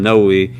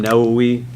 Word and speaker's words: Nawawi: at right now the 40 Hadith of Imam noi we'll go a little bit more deeper into